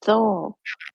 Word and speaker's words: thole: In the toll holds? I think it's just thole.